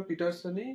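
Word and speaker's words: Paterson: দেখো, Andrew Barton পিটারসন। এটাকে আমরা পিটারসনই উচ্চারণ করব, অ্যান্ড্রিউ বার্টন পিটারসন।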